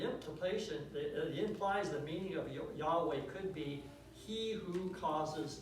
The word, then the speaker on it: Yahweh: anime to yhwh and this led to the pronunciation of jehovah or jehovah which is very unlikely to be the correct pronunciation and in the end no one really knows how yhw ages to be pronounced however biblical scholars have settled on yahweh as the closest that anyone could get it might not be correct but it's closer than jehovah now one last thing